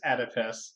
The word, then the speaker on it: Oedipus: But the Wikipedia official soundbite is Oedipus for US English. Oh, it is Oedipus.